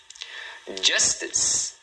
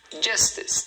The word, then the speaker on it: justice: Justice, justice, tá vendo? 2 sílabas. Justice.